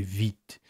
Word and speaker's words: Vite: very close together but in french the fee is way harder almost like a w so i have to say vit it's really hard for me so please forgive me